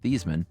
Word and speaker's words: Theismann: Growing up, his dad was very firm that their last name was pronounced Thiesman.